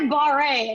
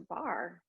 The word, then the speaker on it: barre: mistake first time oh i want to try bahrain and everybody's like just just a bar like it's just a